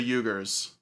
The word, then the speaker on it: Uyghur: Well, he was pronouncing it the correct way. It's a little bit like harsher in the throat area.